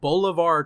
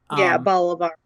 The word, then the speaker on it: Bolivar: Peter Dinklage's character of Bolivar Trask. I believe that's how you pronounce his first name, because I don't think it's said an awful lot in the movie. Bolivar.